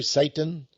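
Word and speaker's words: Çetin: C-E-T-I-N. Is that pronounced right, Jerry? Satan? Well, C-E-T-I-N. Sounds like it should be.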